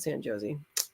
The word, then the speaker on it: San Jose: but without the and they pronounce it San Josie and orian instead of